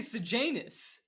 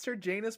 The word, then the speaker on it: Sejanus: They all say Sejanus. I don't think so. I really think it's Sir Janus Plinth.